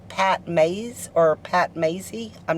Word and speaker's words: Pat Mayse: never been here before he said it is pronounced pat mays and uh he told